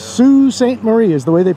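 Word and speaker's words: Sault Ste. Marie: there watchmen what's up what's happening welcome to sue st marie until we got here i thought it was salt saint marie if you look up how it's spelled but it's sue st marie is the way they pronounce it and uh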